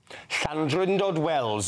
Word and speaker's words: Llandrindod Wells: Llandrindod Wells in Powys in Wales. That's right. That's exactly right. Well pronounced.